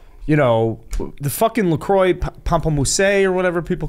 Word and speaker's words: pamplemousse: No, it's not how it's pronounced, pal. That was made very clear in some of the feedback that we had from that episode. It's Pamplemousse? It's French. It ain't Pamplemousse. That's Who not gives the